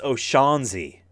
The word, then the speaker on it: O'Shaughnessy: me was the fact that they called Colleen O'Shaughnessy. Did I say that right? I always second guess because when people have more than two syllables in their name. It's O'Shaughnessy.